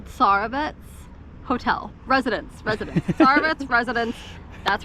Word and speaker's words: Tsarevets: I don't know if it's Tsarevets or if you pronounce the T, Tsarevets Hotel.